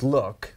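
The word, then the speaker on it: LQQK: launches this Saturday this is a lqq k which is look but it's spelled l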